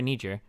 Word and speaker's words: Niger: Is it Niger or Nijer Niger Niger Okay Niger they don't have the